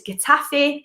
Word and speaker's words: Getafe: I've been told it's Getafe with a T.